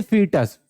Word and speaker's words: fetus: देखो इसको तुम वैसे लिखा है फोइटस टाइप का है नहीं बच्चा, बट प्रोनाउंस करते हैं फीटस, है ना, ई ओ वहां पर साइलेंट होता है, FETUS, फीटस।